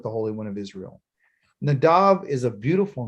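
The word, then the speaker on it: Nadab: nadav okay okay nadav n-a-d-a-b okay but it's pronounced nadav okay and it's a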